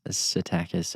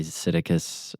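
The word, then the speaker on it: Psittacus: I pronounce it probably weird. People might say Siticus arithcus or some spell like casting a spell. I say Siticus. You say Siticus. Yes. I guess I over pronounce it, but I've always said Satakus.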